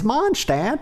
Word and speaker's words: Mondstadt: If it's Mondstadt, don't put a D in it.